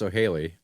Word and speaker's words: Soheili: It's spelled it's pronounced Sohaili. That's how it's said, but it is spelled Soheili, which you would read that as Sohaili, and that's what most people call it.